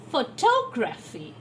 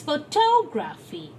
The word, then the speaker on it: photography: is the suffix graphi if we add the suffix graphy the shift in the you know the accent shifts from full to toe it's photography it's photography the toe syllable is stored more strongly so we have a